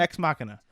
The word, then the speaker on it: Ex Machina: Ex Machina.